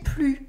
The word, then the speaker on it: plus: Here you can notice when you heard me say it that the S at the end of plus is silent because this is not anymore.